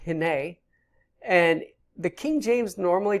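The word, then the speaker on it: הִנֵּה: below that we have another particle that is pronounced hene and the King James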